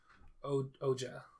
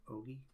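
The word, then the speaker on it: Ougi: I don't think they pronounce it Ouija, but that's what it looks like. I thought it was Oja. Yeah. It's O-U-G-I. Okay. Ogi, maybe? Ogi.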